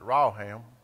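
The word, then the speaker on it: רחם: is pretty interesting uh we would pronounce it raham but it's r a h a m in the Hebrew and it says to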